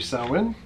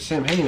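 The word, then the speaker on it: Samhain: let them know that we're saying it wrong. It should be Sawin. So thank you for the note and the correction. The only time I can think of when we said Sam Hain, I could swear it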